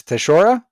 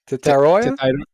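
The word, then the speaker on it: Tetairoa: Teshora? What'd you call me? Tetara? Tetaroya? Tetaroya. Is that how do you pronounce it?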